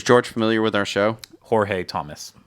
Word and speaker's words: Jorge: is how you would pronounce that. Does it have a tilde? Tomas? No tilde. Oh. Just Jorge Tomas.